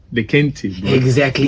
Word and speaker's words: Kente: Bro, not Kente. Kente. My Ghanaian people come for you, bro. Yeah, I can't pronounce it correctly because I'm from Southern Africa. So I feel you. I feel you, bro. So no worries. How do you pronounce it? Kente. Kente? Like, say it straight, like Kente.